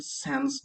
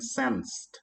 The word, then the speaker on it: sends: Jadi contoh seperti the mailman sends the letter. Jadi harus dibunyikan sensed, bukan send.